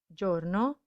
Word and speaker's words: giorno: go in the u the eye is silent it's just a marker that tells us that we need to soften the sound so instead of gogu